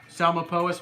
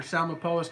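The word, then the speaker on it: Psalmopoeus: say it right lol it's almost like it's pronounced with an s Salim opposed it starts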